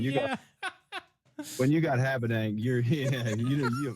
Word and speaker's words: Habedank: but I would think the most common mispronunciation of Habedank would be, because that was like a rock band back when I was in high school.